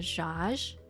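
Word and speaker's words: Djaj: so the one i got was called the josh which is spelled d j aj um which had chicken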